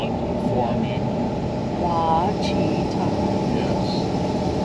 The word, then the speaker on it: Ouachita: And they were very kind in how they did their best to spell it for me. Ouachita. Yes. Ouachita.